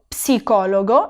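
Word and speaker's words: psicologo: por ejemplo, lo psicólogo, y fijaros bien que la P la tengo que pronunciar. En español no la pronunciamos. Decimos, por ejemplo, psicólogo sin la P. En italiano no, en italiano se tiene que pronunciar lo psicólogo, lo pneumático.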